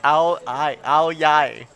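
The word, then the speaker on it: Áo dài: I've been corrected once again. It's Ao Yai. Ao Yai. Oh, it's spelled Ao Dai, which, you know, it does confuse us sometimes in the Vietnamese language, but we're learning, Greg.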